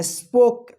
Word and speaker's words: spoke: यदि ओ रहेगा और लास्ट में ई रहेगा तो ओ का ओ उच्चारण कीजिएगा, ई का उच्चारण नहीं होगा।